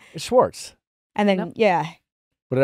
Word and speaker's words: Schwartz: say it I said Schwartz it squirts no she's worse now I'm in my head okay like like shh like you're a librarian Schwartz Swartz I have my